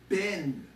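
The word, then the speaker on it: בן: Here, this word is pronounced B-N, Ben.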